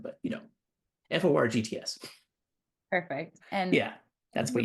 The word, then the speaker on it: forgts: And funnily enough, like the name is almost spelled like forget. It's FORGTS for GTS, I guess. Anyways, so it's in GitHub. Just look for GTS, like the word for, and then like not the number four, but FORGTS.